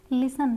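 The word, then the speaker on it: listen: करते क्रिसमस बोलते हैं लिसन यहां पे भी हमारा इ एन से पहले है तो टी साइलेंट है लिसन कासल यहां पे भी हमारा टी साइलेंट है अब यू कहां पे साइलेंट होता है?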